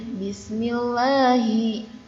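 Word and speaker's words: بسم الله: Ini dibacanya Bismillahi.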